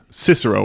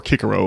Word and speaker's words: Cicero: I think our man was um channeling Cicero or Karo if you want to pronounce it historically accurately the Roman statesman and order um from the 1st century BC.